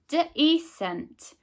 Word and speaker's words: decent: to do the same here using the E pronunciation for this grapheme. D, E, S, E, N, T. Decent.